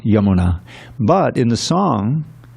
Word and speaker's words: Yamuna: Yamuna. Yamuna, right? Long A at the end, short A at the beginning. Yamuna. But in the song, it's Yamuna, because it's on the bank of the Yamuna.